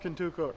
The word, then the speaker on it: Contoocook: areas where the native Americans were permanent we pronounce it Contoocook okay with the cows the way I really